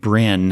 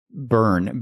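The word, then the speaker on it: Byrn: uh the male alien was named Brin. Um but it was actually Burn. B Y R N. So that entire synopsis I I mispronounced his name.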